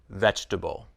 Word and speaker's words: vegetable: it as two syllables every vegetable looks like it has four syllables but we pronounce it as three syllables vegetable chocolate looks like it